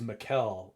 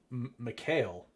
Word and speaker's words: Mikhail: But in typically, like the average white folk would probably pronounce my name Mikhail. So a lot of my friends growing up, my name is Mikhail. Like the Hail is actually not pronounced like hail. It's more like L.